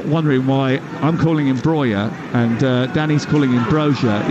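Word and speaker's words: Broja: He plays internationally for Albania, and the reason he wants to be called Breuer is because that's how they say it in Albania.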